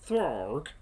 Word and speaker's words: Throg: And so you get Throg. Not Thor, not frog, it's Throg. And you have to say it like that as well.